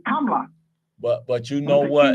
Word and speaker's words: Kamala: being black you know if you pronounce her name right is clear she not black the way we say her name or the way they sold her name to us is Kamala Kamala could sound like a black girl on the south side of Chicago right yeah her name is pronounced KLA yeah if you say kamla that's clear that ain't no black woman what saying if you